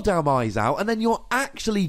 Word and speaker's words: Dhelmise: 4 Dhelmise, and I'm assuming it's pronounced Dhelmise because it's Hellman Demise.